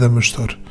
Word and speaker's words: Adamastor: or I don't know you could pronounce it in English says and a master or something like that in Portuguese it's pronounced as a mustard and it's a mythical